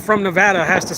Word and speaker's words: Nevada: But the correct way, just like Nevada, how we say Nevada, everybody else says Nevada. Nevada is correct, right? But Nevada is how we say it.